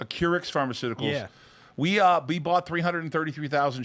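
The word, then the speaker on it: Acurx: It's a Curix. Curix Pharmaceuticals.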